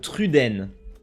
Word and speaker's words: Truden: Not Truden or Truden, but Truden. That's how you pronounce it in French.